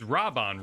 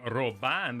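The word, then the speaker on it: Raubahn: i will do my it's it's rob on right i've been corrected on my pronunciation but i in a realm were born in japanese they made a very big deal of doing robin they're like robin so i have a tendency to say ro listen you know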